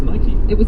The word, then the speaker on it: Nike: All he did was just circle and send it back to them, and he circled -key, as in a key opening a door. Yeah. So it's Nike.